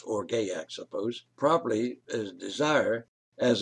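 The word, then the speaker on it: orge: definition is now for o-r-g-e pronounce or gayak suppose probably as desire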